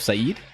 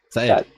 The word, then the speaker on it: Seth: I heard you call yourself Saeed. Seth. Yeah, Seth. Like Seth. Okay, got it. Seth, See, I overpronounced the second A.